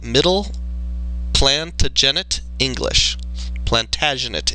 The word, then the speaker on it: Plantagenet: Plantagenate English, I believe, is how it's pronounced.